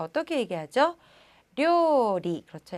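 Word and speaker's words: 料理: 료리, 그렇죠. 약간 리을 발음 주의를 좀 해주셔야 한다는 거. 료리라고 얘기를 해주셔야 합니다.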